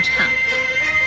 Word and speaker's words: 怅: 个唱字，惆怅的唱。四声唱，唱四声唱。